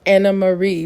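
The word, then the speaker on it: Annemarie: her name is pronounced Anna Marie but it's spelled anarie it's apparently it's the Dutch spelling it's a Dutch name so I from moving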